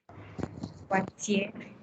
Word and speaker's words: Poitiers: Poitiers. Poitiers. Poitiers. Poitiers, that's original in France. Okay, it's for remain silent. Poitiers. I also have the IER sound here, so I'm going to pronounce it as EA.